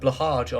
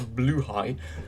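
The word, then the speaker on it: Blåhaj: and also the shark, the Blahaj, or as it's actually pronounced, a Bluehai, that only joined recently.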